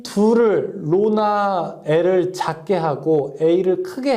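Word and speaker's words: ρ: 로 A분의 L 이렇게 쓸 수 있습니다. 자, 여기서 이거 읽을 때 뭐라고 하냐면 로라고 읽어요.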